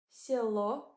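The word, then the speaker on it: село: in the word Soo Silo means willage the O is stressed and that's why it gives clear sound o at the end of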